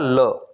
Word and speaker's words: le: वहां पे यूज़ होगा ल एल ई इसका प्रोनाउंस क्या रहेगा ल जैसे अगर हमें बोलना